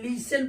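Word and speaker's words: listen: ऐसे एल आई एस लिसन पढ़ते लिसन एल आई एस टी एन लिसन T silent ऐसे एम ओ आई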